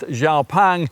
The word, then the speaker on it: XPeng: Spelled Xpang, but pronounced Xiao Pang, this is one of the more serious sort.